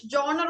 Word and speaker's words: genre: ജോണർ, what style of, okay, which genre of music do you enjoy the most? ഏത് തരത്തിലുള്ള music ആണ്? Okay, Genre. Okay. genre. Okay, so the spelling ഇതാണ് GENRE, but it is pronounced as genre.